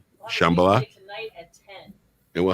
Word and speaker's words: Shambala: And, am I pronouncing that right? Yeah, that's right, Shambala. Yeah. Shambala, the emphasis on the right syllable.